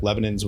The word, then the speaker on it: Lebanon: Lebanon's what people say.